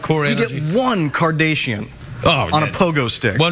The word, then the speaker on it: Kardashian: It's Kardashian.